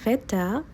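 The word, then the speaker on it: Wetter: উচ্চারণটা ভি কারণ হচ্ছে ডব্লিউ কে জার্মানরা ভি এর মত উচ্চারণ করে এর আগের আর্টিকেল হবে ডাস ডাস ভেটা অর্থাৎ আবহাওয়া তাপমাত্রাকে বলে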